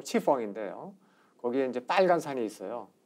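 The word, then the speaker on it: 赤峰: 그리고 만주 요하 서쪽에 이제 그 적봉시라고 하는 도시가 있습니다. 중국 발음 치펑인데요.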